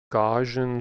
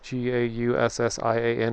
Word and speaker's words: Gaussian: So if you want to know more about this method should Google gajon splats g a u ss i a n or gaussian. I don't know. I've heard that pronounced so many different ways.